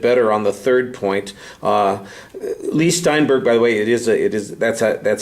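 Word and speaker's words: Leigh Steinberg: Lee Steinberg, by the way, that's how you say his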